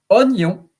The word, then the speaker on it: oignon: So onion, also interesting about the rules because normally if I have to pronounce it without knowing it, it will be oignon. Oignon. But this word is pronounced oignon. So you don't pronounce the I or the combination of O and I. Like, for instance, je bois un verre. B-O-I-S. Je bois un verre. I drink a glass. But here, oignon, the I is not pronounced.